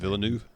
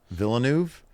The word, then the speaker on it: Villeneuve: Dennis I never know how to pronounce his last name. Villeneuve. Villeneuve.